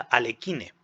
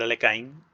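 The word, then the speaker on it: Alekhine: si veis vídeos míos Yo decía alekine pero me corrigieron en su momento me dijeron de que se pronuncia correctamente en francesa le caen y por eso estoy utilizando Alexander alekain intentando pronunciar correctamente el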